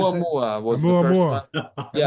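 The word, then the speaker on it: ʻOumuamua: Oumuamua was the first one.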